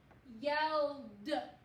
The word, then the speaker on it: yelled: Yelled. Yelled. I yelled across the playground. Yelled. So even though all of these verbs were all spelled with the same ending, they had different sounds. Ed, t, and d.